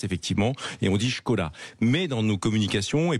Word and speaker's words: Škoda: vrai que la prononciation, la vraie prononciation, c'est Skoda, parce qu'il y a ce fameux accent, et au-dessus du S. Au-dessus du S, effectivement. Et on dit Skoda.